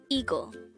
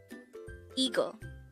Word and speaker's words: 이거: Eagle. Eagle. This is pronounced as a two-syllable word. The first syllable is E, the second syllable is go.